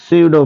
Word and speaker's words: pseudo: जिसे हम बोलते हैं सीडो फोर्स। क्या बोलते हैं, सीडो force. सीडो force, P silent होता है, सीडो फोर्स।